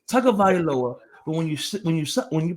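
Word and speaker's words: Tagovailoa: Why does it sound with an N, but it's spelled with no N? It's Tonga Vailoa, but when you pronounce it, it's Tonga Vailoa.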